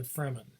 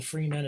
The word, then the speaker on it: Fremen: The indigenous population are the Fremen. Sometimes called the Freemen, it depends on people's pronunciation, but it's spelled Fremen.